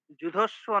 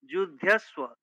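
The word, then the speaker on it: যুধ্যস্ব: যুধস্ব নয়, যুদ্ধস্ব।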